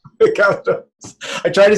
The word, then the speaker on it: Kafatos: Kafatos. Kafatos.